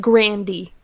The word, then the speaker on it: Grande: she is italian and her last name is actually pronounced grandy the only reason she goes by grande and never corrects anybody